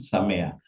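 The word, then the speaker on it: שמח: Ini bacanya Samea.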